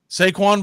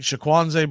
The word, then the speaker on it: Saquon: One guy kept calling him Shaquanze Barkley. I was like, who's Shaquanze? I was like, Saquon.